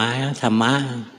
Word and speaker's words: ธรรม: ทธ ธง ร เรือ 2 ตัว ม ม้ ธรรมะ กับ ทธ ทหาร สาระ อำ อ่ะ ต้อง ทำ